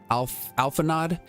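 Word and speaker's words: Alphinaud: All right, so, really, Alphanod, if I need concern myself with anything, it is surely matters such as these. So this is Alphanod.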